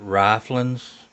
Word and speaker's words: Ryflens: to us uh uh i'm gonna pronounce it riflins and uh we'll we'll